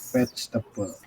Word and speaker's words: vegetable: sayur itu maksudnya bukan spices, tapi maksudnya ingredient atau vegetable. Oh, ini ya, ingat-ingat ya. Kalau teman-teman baca ini, bacanya apa ini? Vegetable. Nah, salah. Vegetable. Salah. Salah. Bacanya vegetable. Jadi E-nya nggak perlu.